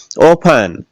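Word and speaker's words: often: इसमें देखिएगा टीईएन बोलते क्या है, लिसन, लिस्टन तो नहीं बोलते, क्यों नहीं बोलते, क्योंकि इसमें टी साइलेंट है, लिसन होगा ये देखिएगा ओफन, तो लास्ट में क्या है, टीईएन, तो टी का उच्चारण नहीं हुआ, क्या बोल दिया, ओफन।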